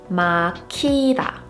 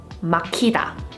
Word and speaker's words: 막히다: Here, Hieut is not the 받침, but it is following another stop 받침, so it still indicates that it should be aspirated. So a word like this would be pronounced 막히다, 막히다.